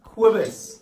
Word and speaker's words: Cobus: Cobus. Quibus. Just think of Quebec in Canada.